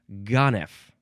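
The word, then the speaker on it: ganef: Next is now it looks like you pronounce it gone.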